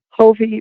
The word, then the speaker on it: Hofve: do you tell them hovie rhymes with Bon Joy woohoo Rock home do